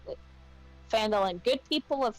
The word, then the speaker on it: Phandalin: pronounce it? Phandalin. Good people of Phandalin, please listen.